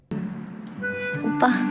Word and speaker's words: 오빠: OPPA for the convenience of spelling, but the pronunciation is not Oppa. It's Oppa, like super strong accent on the B. 오빠. 두 번만 더. 오빠?